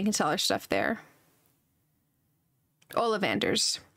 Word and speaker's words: Ollivander's: So I am gonna travel there because we're right next to Oleander's and we can sell our stuff there. Ollivander's. Sorry, I said it wrong.